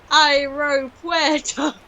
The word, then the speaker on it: aeropuerto: Aeropuerto. That's how I taught Laura how to pronounce like the AE sound in Spanish, because like, go to the airport by boat, aeropuerto.